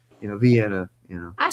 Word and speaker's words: Vienna: pronunciation is vi- the I is supposed to sound like an E. You know, Vienna, you know.